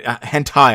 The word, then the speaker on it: hentai: so I know it's like a hente game like it's not sorry hentai I know how to pronounce it now I know I know it's a hentai game so it's not like